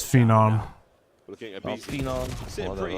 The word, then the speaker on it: Phenom: No, it's not phenomenon. It's phenom.